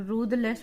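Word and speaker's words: ruthless: रूदलेस, इसको हम रूदलेस पढ़ते हैं, दा उच्चारण होता है यहाँ पे।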